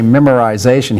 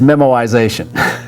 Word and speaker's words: memoization: that wascooly rabbit so if elmer fudd were to say memorization he would say memoization yeah but this really is memoization that elmer foot and